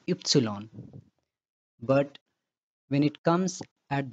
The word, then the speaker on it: Ypsilon: A single letter in German, Y pronounced as Ypsilon.